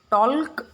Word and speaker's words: talk: have not used L, talk, right? I said talk. तो यहाँ पे जो L है वो silent है. So while speaking that word, we will not pronounce the letter L.